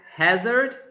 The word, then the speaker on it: hazard: So it's pronounced more like hazard. Hazard? Yes, hazard. Hazard. Hazard. That A, that it's letter A, has a sound more like E than yes.